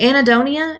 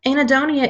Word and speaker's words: anhedonia: having this diagnosis okay anhedonia anhedonia is my favorite clinical word seriously it is my favorite I don't know why it's just I guess it's the silent H I'm not really sure